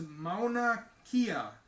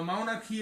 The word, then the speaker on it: Mauna Kea: claim it technically shouldn't own the title because Mauna Kea is the tallest mountain when measured from the base to summit. Okay, now Mauna Kea is apparently the largest, tallest mountain in the entire world.